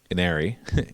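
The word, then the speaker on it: Ynnari: essentially the the um iner iner basically wherever you see a y just pronounce it like an i and and then when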